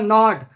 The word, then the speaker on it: gnawed: The mouse gnawed the net in which, gnawed यहाँ पे जी लगाए, जी साइलेंट रहेगा, इसका प्रोनाउंसिएशन क्या होगा? gnawed।